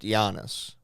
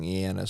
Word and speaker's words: Janus: Apparently, so it's Ianus, and back in the day, I and J were like interchangeable. So, but it was pronounced Janus. You know what I mean? Like, so the I is pronounced, so that's where you get the Eanus from, with the Janus getting an E, and then the E being pronounced differently over time. Yeah. Or the J just going to Janus. So that's where he gets that from.